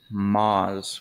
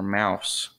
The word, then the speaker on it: Maus: or the moz uh i call it the mouse just because uh that's the english way of saying what the stink is uh if you wonder how to spell that that is m-m-a-u-s moz or mouse now obviously